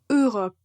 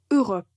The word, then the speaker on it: Europe: Quand on prononce ce mot, la première lettre ou le premier son que vous entendez, c'est juste E. E. Europe. Donc il n'y a pas d'autres sons, n'inventez rien, juste tout simplement Europe.